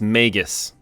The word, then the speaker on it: Magus: All right, I just Googled it and it's Magus.